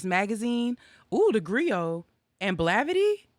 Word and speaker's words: Blavity: ooh the griot and blavity is that how you pronounce it i've always wondered you pronounced it correctly gravity yo those are